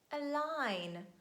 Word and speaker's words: align: is letter g and letter g silent at the end of words when it's followed by letter n and we say design align sign boring rain campaign but